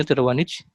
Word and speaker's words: Tiravanija: Rick Tiravanija, tapi dibacanya Tiravanija.